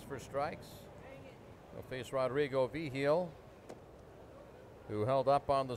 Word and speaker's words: Vigil: Vigil is spelled V-I-G-I-L, like vigil. Only Vigil.